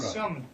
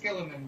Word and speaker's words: Schillman: Schillman. It's Dutch. It's actually pronounced Skilleman, but my grandpa changed it to Schillman, so he didn't sound too foreign.